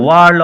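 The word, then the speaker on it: world: ইট ওয়াজ A relief two ফ্রাম্পটন when the aunt বাসল্ড into the room with a ওয়ার্ল্ড of apologies, উচ্চারণ লক্ষ্য করো, WHIRL উচ্চারণ, ওয়ার্ল্ড, with a ওয়ার্ল্ড of apologies for being late in making her appearance.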